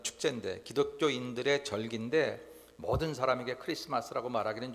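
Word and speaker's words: Xmas: 헬라에 그래서 저렇게 우리가 그냥 볼 때 마라고 쓰여진 거 같은게로 읽으면 안 되고 그냥 크리스마스라고 읽으셔야 맞습니다 모르는 사람이야 그렇게 읽더라도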